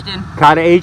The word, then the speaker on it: Katahdin: Katahdin.